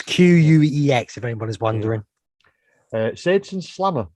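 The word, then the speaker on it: Quex: Is that Quirk's Adventure Fright Park? Yeah, well, it's Queex.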